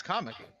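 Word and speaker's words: Kamek: You didn't pronounce it right. That's comic. Not comic like a comic book.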